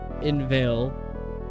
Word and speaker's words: inveigle: Say, inveigh, nay, but inveigle. Make the latter rhyme with eagle.